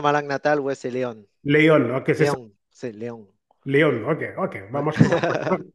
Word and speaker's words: Léon: Je pense que comme Léon en espagnol, mais tu sais, en français, Léon.